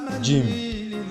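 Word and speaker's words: ج: here the fifth one we pronounce it jim after me so when you're writing g that is j i and so it's like a gym that you want box if you want to just cram the understanding so it's just like a gym that you bought you say gym so that is how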